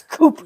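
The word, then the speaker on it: coup: end of that it's Cooper the p is silent no it's not this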